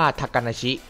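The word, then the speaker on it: 小鳥遊: ซ้อน ยิ่ง กว่า นั้น คำ นี้ ดัน อ่าน ว่า ทากาชิ เพราะ มา จาก คำ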